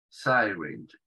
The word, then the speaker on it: syringe: Esa palabra en inglés es syringe, syringe. Esa Y que está al principio se pronuncia con el diptongo AI. Sa, sai, syringe.